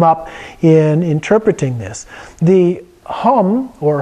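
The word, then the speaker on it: hūṃ: that can come up in interpreting this the hum or hung as it's usually pronounced in tattin is Hu m in Sanskrit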